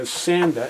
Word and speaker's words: Sanda: So, the next brand I want to talk about that's the Sanda s a n d a and this brand has a pretty good reputation from what I've seen from other YouTube reviewers.